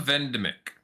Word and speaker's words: Vendemic: Melancha Vendemic. Okay, I got it. pronounced it more like pandemic.